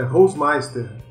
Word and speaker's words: Holzmeister: E pra começar o ano foda, a gente tá aqui com o Hausmeister. É Hausmeister mesmo que fala? Ou é diferente a pronúncia? Cara, é quase isso, é Hausmeister.